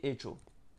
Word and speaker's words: hecho: Soit la lettre H elle est muette, donc et ensuite donc il y a CH, donc ça fait cho, et hecho.